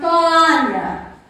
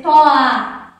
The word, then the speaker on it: toalha: Porque aqui eu poderia errar e dizer toa. Toalha. Eu poderia dizer que a palavra toalha só tinha duas sílabas. E não é. To, a, lha. Três sílabas, ok?